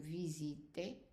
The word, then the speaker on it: visitez: And then vous visitez, the EZ pronounced as an A.